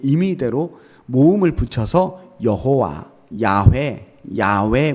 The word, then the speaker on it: 야훼: 여호와라고 하는 야훼라고 하는이 자음의 정확한 발음은 사실 사람이 들이쉬고 내쉬는 숨소리를 그대로 흉내낸 거라는 거예요 그러니까 이게 그 발음이